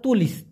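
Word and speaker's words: tulis: বুকু, বইকে মালয়েশিয়ান ভাষায় বলা হয় বুকু, আর যদি বুকু তুলিশ বলা হয় তার মানে হলো খাতা, এখানে টুলিশ তো ওরা বলে না, ওরা বলে তুলিশ, তুলিশ, বুকু তুলিশ মানে খাতা, আর শুধুমাত্র বুকু মানে হলো বই।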